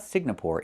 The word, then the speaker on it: Singapore: It's not Singapore. It's Singapore. The NG makes a sound M in your nose. Sing like when you sing a song together. Singapore. Not Singapore, but Singapore.